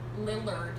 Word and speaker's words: Lillard: Lillard. Sorry. if I said it Lizard.